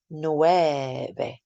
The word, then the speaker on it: nueve: Then nueve. Try to make that V a nice soft B sound.